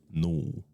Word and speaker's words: Nul: there was Asgarath, Io, sometimes pronounced Io, and Null. Nor? Null.